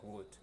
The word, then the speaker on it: would: Y la pronunciación de esta otra es would.